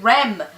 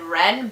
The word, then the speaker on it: Rem: Oh, is it Rem? Okay, I mispronounced the name, I said Ren, but I got it right.